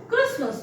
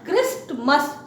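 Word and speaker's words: Christmas: फिर है क्रिसमस, नॉट क्रिस्टमस, Jesus क्राइस्ट के साथ क्राइस्ट लगता है, टी पढ़ते हैं, but here this T is silent and इट is called क्रिसमस, क्रिसमस।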